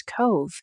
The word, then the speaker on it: Cobh: Spelled like Cobb with an H, yet softly spoken as Cove, it becomes endearing almost as soon as it's learned.